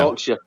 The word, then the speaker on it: Yorkshire: Yorkshire. Right. Yorkshire. Like God's country. God's country. Okay. Which is that's where you reside, correct? Leeds is in Yorkshire or near Yorkshire. Correct. West Yorkshire.